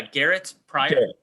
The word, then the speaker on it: Garet Prior: really great information can you tell me your pronunciation of your name again please yeah garrett's pride all right sorry i didn't want to jack